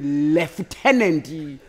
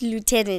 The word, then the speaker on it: lieutenant: know there's a hero someone leftenant yeah you ever it's like liutenant daring it's Lieutenant it's Lieutenant oh guys I'm Lady